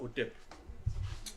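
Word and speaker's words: ḥtp: Ça c'est translitère, en fait c'est HTP. Ok? Et on prononce ça OTEP.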